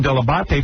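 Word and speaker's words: Dell'Abate: I don't remember specifically day one, but I know I got the pronunciation Delabate from you. I said that is the proper way to pronounce it, but nobody.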